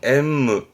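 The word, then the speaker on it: 煙霧: 연무라고 해서 발음은 엠무 하는데 연기가 자욱한 거니까요.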